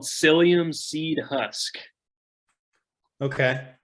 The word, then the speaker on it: psyllium: that um it's called it starts with a P but the p is silent you know the English